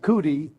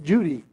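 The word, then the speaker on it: Cudi: And when you see a C in Turkish, it's pronounced ja. So C-U-D-I, Kudi, is pronounced Judy.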